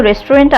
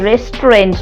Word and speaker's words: restaurant: এখানে কি কোনো রেস্টুরেন্ট আছে? Is there any restaurant here? Is there any restaurant here? উচ্চারণটা রেস্টুরেন্ট নয়, রেস্ট্র।